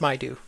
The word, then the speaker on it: Maidu: It's pronounced Maidu.